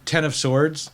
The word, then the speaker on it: X of Swords: this um um uh ten of swords uh storyline yeah okay so ever nobody knows how to what it's pronounced x of swords x it's based on tarot cards this yeah this thing